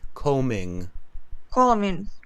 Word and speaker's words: combing: after me combing no B combing yeah the B is silent calling yeah and here